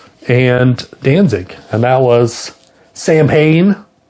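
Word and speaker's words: Samhain: Danzig, and that was Sam Hayne, which is actually pronounced Salwin, I believe. But we just say Sam Hayne, and that's what everyone says.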